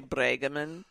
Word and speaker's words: Brueggemann: My maiden name is You Brueggemann. are from the Midwest. Brueggemann. No, I'm Pronounced actually Bregemann, but it's Brueggemann. Brueggemann.